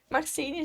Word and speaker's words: Maxyne: encontra por meio de maxine meu nome é diferente sobrenome também mas se escreve ma x yne maxine já dá para já